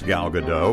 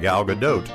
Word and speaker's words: Gal Gadot: lot more gal gadot it's like when you pronounce gal gadot with a silent t it is shorter and